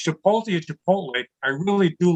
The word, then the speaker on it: chipotle: He said, Dad, it's chipotle. I said, great. This kid got a 40 on his Spanish regions. He's correcting me. Yeah. Whether it's chipotle or chipotle, I really do love their pulled pork for distance.